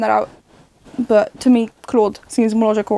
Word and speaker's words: Claude: I'm gonna be pronouncing it Claude. That's what seems logical to me, coming from someone who is a French speaker. If it is Cloud, I'm sorry, I'm gonna adjust whenever I find that out.